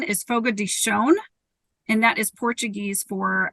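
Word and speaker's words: Fogo de Chão: the organization yes absolutely so the the correct pronunciation I know everybody likes to say Fogo de Chao and sometimes when I return phone calls like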